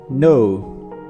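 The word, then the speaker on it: know: मरहम, नो, नो, नो में K silent है, आपने इसको पढ़ना है नो।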